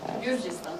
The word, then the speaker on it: Gürcistan: Gürcistan.